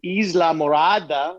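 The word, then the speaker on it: Islamorada: a friend down in the keys down in isla murada that's how you pronounce it what's the weather like oh it's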